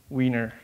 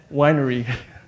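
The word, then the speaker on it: weinre: So the technology we are using is called Wiener or Winery. There's two camps of pronunciation.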